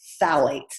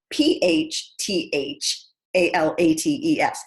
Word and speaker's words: phthalates: next chemical is called phthalates and it's spelled p-h-t-h-a-l-a-t-e-s it's the one you don't want to get on a spelling bee phthalates that starts with a p but you don't